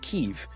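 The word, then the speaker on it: Kyiv: really confused when Western news started calling Kiev Kiev yes boonie the the capital of Ukraine is Kiev because that's how they say it in Ukraine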